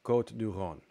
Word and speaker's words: Côte du Rhône: And he was saying, you know, you should pronounce it with a long vowel because that's more correct. It's Côte du Rhône.